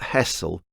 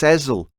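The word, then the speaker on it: Hessle: It's not Hessel, it's Hazel. Like that song Liza with a Z, 'cause S spells Lisa.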